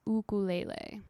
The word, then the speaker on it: ukulele: across the islands or is pronounced by Hawaiians as ukulele yeah I don't know